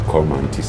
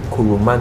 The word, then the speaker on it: Kurumanti: The Cormantis for you. Yes, they pronounce it Kurumanti. Kurumanti. Yes. But it's our own Cormanti.